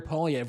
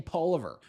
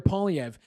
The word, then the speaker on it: Poilievre: how to say Maloney let alone Pierre pauliev which most people to this day still don't know how to say they keep saying poliver we've got Charlie Angus